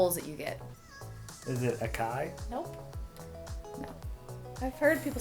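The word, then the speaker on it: açaí: Yeah, it's called acai.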